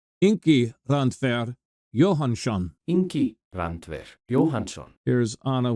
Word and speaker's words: Johannsson: When you see that double S-O-N at the end, it's shun, like SH sound in English. Ingi Randver Johannsson.